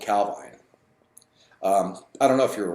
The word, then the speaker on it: Calvine: The Calvine UFO, Calvine, people pronounce it different ways. Nick said it's Calvine.